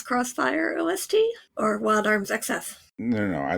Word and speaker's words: XF: Is that how you're supposed to pronounce XF? I always said XF, but I've heard people say Crossfire. Yeah. I mean, I know in Japan it's Crossfire. I also knew of it only as XF, but now that I